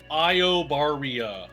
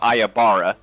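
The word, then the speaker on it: Iobaria: I it's yeah it's Io Io Barrio I think is the right way to say it I think I I don't think it's clear whether it's EO or IO but definitely there's a yeah it's definitely not ayabara right there's another there's another I at the end I'm pretty sure it's spelled i-o-b-a-r-i-a sure that works so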